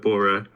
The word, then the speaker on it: Bora: It's the indigenous, like in Bora, it has two long vowels, but obviously in English we just call it Bora.